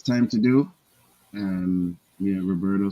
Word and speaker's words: Roberto: those are fighting words it is Roberto Roberto you know I'm trying hard like I'm running for elections to get people to say my name righteously even in Italy they're calling me Robert I go hold on